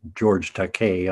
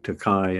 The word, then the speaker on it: George Takei: I mispronounced his name. It's George Takei, I'm sorry. For all those years, I'd been saying Takei, and then just as we signed him up,